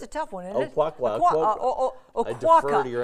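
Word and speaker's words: Oquawka: Oquaka. Oquaka. I defer to your expertise on this, Paula. It's Oquaka. Is it Oquaka? I just got it. It's Oquaka.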